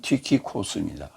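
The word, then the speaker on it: Τύχικος: 개역성경에는 두기고라고 되어 있죠. 정확한 헬라어 발음은 티키코스입니다.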